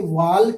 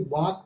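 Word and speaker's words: walk: यहाँ WL के वाल्क नहीं पढ़ेंगे, इसे वाक पढ़ते हैं, तो एल के बाद क्या है।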